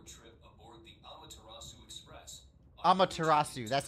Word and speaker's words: Amaterasu: Amaterasu, that's how it's pronounced.